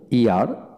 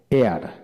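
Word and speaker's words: heir: যেমন honest, honest, hour, hour, যেমন ও ইয়ার, hour, honourable, honourable, ইয়ার, এয়ার, এয়ার, এদের ক্ষেত্রে এখানে এইচের উচ্চারণ হয় না, এটা খেয়াল করে পড়বেন।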